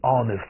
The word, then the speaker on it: honest: 哎，这个注意，I'm an honest boy，你要记不住就记